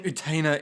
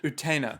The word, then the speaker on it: Utena: Are you saying Utena is desired by my brother? Our pronunciation is slipping from habit. Utena. Utena.